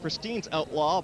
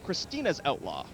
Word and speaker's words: Christine's Outlaw: It looks like Christine's Outlaw, but it's pronounced Christina's Outlaw.